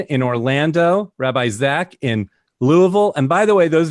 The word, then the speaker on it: Louisville: not from the south any city that ends in VI ll e that's pronounced bull you could be in nashville Louisville that's that's how it's pronounced if you thought I